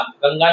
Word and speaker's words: गंगा: गंगा गंगा नदी है। कुछ छात्र इसको सही उच्चारण इसका नहीं कर पाते हैं। गंगा ये गंगा है ये ड नहीं है ये गंगा है गंगा है उत्तर प्रदेश अहम मातृ